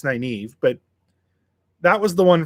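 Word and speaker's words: Nynaeve: you totally butchered completely mine was naive uh for whatever reason it was nineveh in my head every time i read it the first time it was nineveh nineveh um i'm curious what it is for you naive it's not obviously it's naive but that was the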